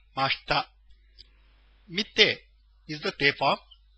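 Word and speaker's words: ました: Please note the I in mashita is silent. It's pronounced as if it were mashta.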